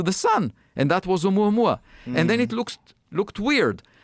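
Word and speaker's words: ʻOumuamua: Oumuamua? Oumuamua.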